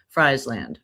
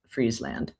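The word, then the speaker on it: Friesland: Fry land, but I'm pretty sure it's pronounced Freezeland.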